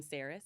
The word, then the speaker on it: Ceres: And do you pronounce her name Ceres?